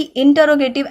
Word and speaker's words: interrogative: का, वो पार्ट है इंटरोगेटिव एडजेक्टिव. ठीक है, सबसे पहली चीज कि हमें पता होना चाहिए इट्स नॉट इंटेरोगेटिव, इट्स इंटरोगेटिव adjective.